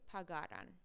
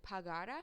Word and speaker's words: pagara: you're pronouncing these correctly, so like pagara, because if you pronounce it pagara, that's the future tense, like he or she will pay. So you want to make sure that you're pronouncing it with the spoken accent before the ra.